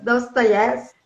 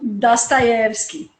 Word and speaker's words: Dostoiévski: É porque assim, o O em russo, ele só tem o som de O quando ele é tônico. Quando ele não é tônico, ele tem a pronúncia de A. Então, para nós é Dostoiévski, mas para o russo é Dostoiévski, porque nem, é no E, que é a tônica, não é no O, então é Dostoiévski.